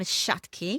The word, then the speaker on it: Shakti: Um I read your book and it's called I am Shaki. Yes, correct pronunciation perfect.